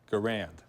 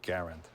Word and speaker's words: Garand: Garand which is it people often called him Garand but it's really Garand French Canadian family came down when he was 12 years old but he carry that name and that pronunciation all his life he worked here from